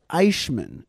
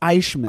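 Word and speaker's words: Eichmann: adol Amman which is by the way sometimes pronounced aishman interesting enough the the he like you it's pronounced aishman all right I didn't know that anyway holy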